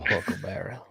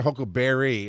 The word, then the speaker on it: huckleberry: It's the correct way to say it. I'm your huckleber. Love that one. Huckleberry. Yeah. So good. Everybody always says, "Hi, I'm your hook Barry." It's like, "No, that's not what he said."